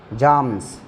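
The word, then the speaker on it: psalms: Hymns, जाम्स, ये P silent रहता है, जाम्स, मंत्रा, श्लोका इसको कैसे है।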